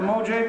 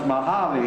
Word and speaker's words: Mojave: said we found it on the map the Mojang desert hits it hits pronounce mojave you know no other so I used to